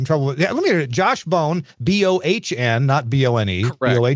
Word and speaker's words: Bohn: yeah let me Josh bone boah n-not vo any way Jen yeah what what the heck kind of name is that that is a German name I get mispronounced as bond a lot job where I grew